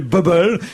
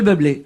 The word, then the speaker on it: Bublé: Écoutez, c'est écrit Michael, c'est écrit Bubble. Moi, je dis Bubble. Vous avez raison, c'est vrai que c'était pas évident si j'avais pas entendu prononcer le nom. Il faut dire Michael Bublé.